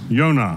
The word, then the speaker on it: Yonah: I'm sure many of you know the Hebrew word for dove is Yonah, which we pronounce Jonah.